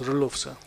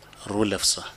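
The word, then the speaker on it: Roelofse: It is spelled R-O-E-L-O-F-S-E, and it is pronounced Rulofsa. Rulofsa.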